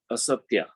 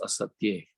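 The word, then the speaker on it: asteya: Third aspect of yama is asatya, or rather, it's actually pronounced asatya.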